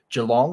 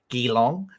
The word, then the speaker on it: Geelong: It's in Melbourne, or just outside Melbourne, at a place called Geelong, or as Americans call it, Geelong. We always find that funny when they pronounce it wrong.